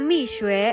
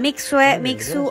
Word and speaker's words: Mixue: Jaja misuwe Oh ya cara bacanya Miss we bukan mixe atau apalah Inget ya Mike sekarang